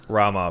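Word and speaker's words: Ramuh: Is it Ramu or Rama? Rama, apparently. Rama.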